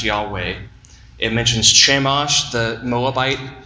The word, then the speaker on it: Yahweh: It has the biblical name for God on it, the YHWH, that we think must pronounced Yahweh.